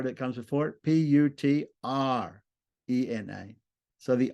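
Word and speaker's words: पुत्रेण: instrumental singular becomes now why doesn't it just become putrena with a dental end why does that n at the end on the ending turn into a cerebral with a DOT under it because we have an r that comes before it see the r that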